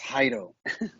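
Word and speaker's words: Jairo: my name is pronounced hydo it's cairo yeah do you roll your r a little bit yeah yeah it's the j that confuses everybody uh it's pronounced haido anyway so yeah i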